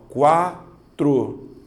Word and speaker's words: quatro: na de baixo ó quatro duas sílabas Observe você fala quatro ou quatro quatro certo você faz igual a mim então nós estamos certos certo então a letra u é pronunciada então eu tenho semivogal